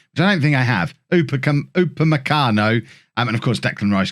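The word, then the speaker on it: Upamecano: it uppercommando i don't think i have uppercum upamakano and of course declan rice can drop back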